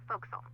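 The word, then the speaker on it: forecastle: ship but it's pronounced fo'c'sle why is that try pronouncing it like an English sailor with no formal education Oh over time it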